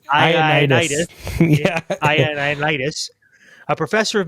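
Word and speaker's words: Ioannidis: John, I don't know how we would pronounce this because it's capital I. Ionitis. John Ionitis. Ionitis. Because an A there too. Yeah, it's Ionitis.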